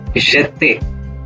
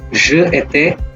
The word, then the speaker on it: j'étais: Then together we will pronounce it as j'étais, not je étais. It is j'étais.